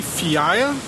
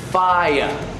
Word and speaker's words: FIEA: it's a fire SIA play it could be fee aya other people say it like this ah yeah that's it yeah yeah the correct way to pronounce it is just like this fire got it it stands for the Florida interactive